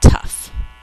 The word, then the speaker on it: tough: Number 6, tough. One syllable. The tough test questions were hard to answer. Tough. One syllable. Think to spell t-uff. Spell tough out loud.